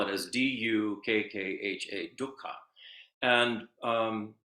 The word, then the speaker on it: dukkha: It's like we transliterate it as D, or spell it as D-U-K-K-H-A, dukkha.